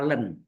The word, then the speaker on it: ln: logarimma pokok e adalah Len LN Len itu tulisannya LN bacanya Len tulisannya LN ya dengan catatan di